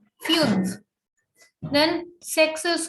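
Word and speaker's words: fünf: five is called fumes here we have the umlauts so it is fumes fuse then sex is called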